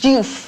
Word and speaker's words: Diouf: How do you pronounce it? Diouf.